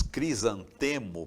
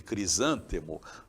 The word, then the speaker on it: crisântemo: Então, quem diz crisantemo, por exemplo, em vez de crisântemo, né? Eh, ou quem dizíbero em vez de ibero, eh, troca a prosódia